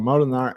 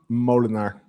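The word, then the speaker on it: Moolenaar: I always thought it was Bram Molenaar, not Molenaar. In Dutch, it would be Bram Molenaar.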